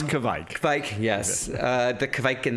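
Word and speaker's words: Kveik: I talked to them about, Kvike, Norwegian yeast strain, Kvike, no matter how you pronounce it, we're all finding new ways to say it. Yeah, it's Kvike.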